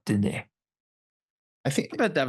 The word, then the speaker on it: Dene: It is just Dene. The name for the area is what I can't pronounce. It's Dene.